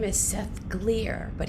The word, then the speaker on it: Glier: his name is seth gleer but he spells it g-l-i-e-r but he says it rhymes with beer that's easy to remember he's